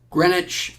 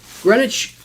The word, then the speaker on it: Greenwich: don't know if I you don't say the W right how would you